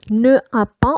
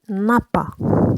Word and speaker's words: n'a pas: On ne dit pas ne a pas, on dit n'a pas.